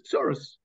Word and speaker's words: tsurus: So tsar, those that cause you tsar, tsarehem, are the tsurus, same word as tsurus. Yiddish is the Yiddish word tsurus comes from just a Yiddish pronunciation of the word tsarot, tsurus.